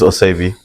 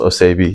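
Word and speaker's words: Oevi: My name is Ovi. Uh spelled o e vi pronounced ovi.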